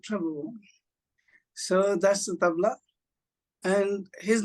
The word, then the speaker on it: tabla: And I see that you're also bringing an instrument, the tabla. Is that how you pronounce it?